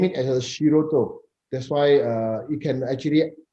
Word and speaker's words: Shiruto: Yeah, actually, Shiruto itself, the name, if you think, you pronounce Shiruto, the time, the shi is sound like shield, a shield that going to defend yourself, the shield.